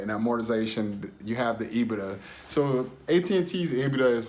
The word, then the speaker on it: EBITDA: EBITDA, that's how you say it.